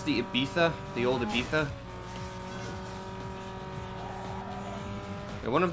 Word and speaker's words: Ibiza: The correct peninsular Spanish pronunciation of Ibiza is Ibiza. They pronounce their Z's as THs in peninsular Spain. Or peninsular Spanish, rather. Fun fact. No, it's not a hard Z. It's Ibiza.